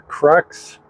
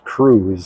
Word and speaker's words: Crux: It's the Crux Epicure, and this is a Habano wrapper. I kind of waffled on whether it was Crux or the Spanish pronunciation, which is Cruz, C-R-U-Z.